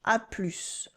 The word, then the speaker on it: à plus: À plus. It's casual and we pronounce the final S.